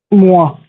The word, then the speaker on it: moi: moi, moi.